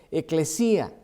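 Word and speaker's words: ἐκκλησία: La palabra griega de la iglesia significa, se escribe y se dice eclesía en el griego.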